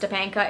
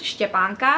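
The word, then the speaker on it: Štěpánka: Stepanka is actually the Czech version of my name, Stephanie. It's not really pronounced Stepanka, it's pronounced Stepanka.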